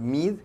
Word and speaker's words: Meade: ¿El señor Mid, que se escribe Meade, lo pronunciará uno en español?